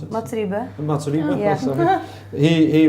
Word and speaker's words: Mats Riebe: Yeah, because for your first album, I read that Max Rybel, how do you pronounce it? Mats Riebe.